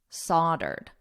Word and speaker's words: soldered: kettles soldered with lead don't let the spelling influence your pronunciation so don't look at the word listen to my voice solder a Ed soldered soldered with lead I only know this